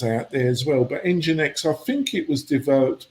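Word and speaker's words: nginx: you be aache and how do you pronounce the one is it NX um engine X I see engine X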